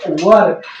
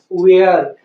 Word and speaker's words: were: वर। लेकिन अब तक हम क्या पढ़ते आए हैं? वेयर। तो वेयर हमें नहीं पढ़ना है, हमें वर पढ़ना है।